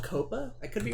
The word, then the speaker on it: COPPA: It's called COPA.